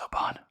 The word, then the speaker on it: Oban: I think it's pronounced Oban. I might be wrong.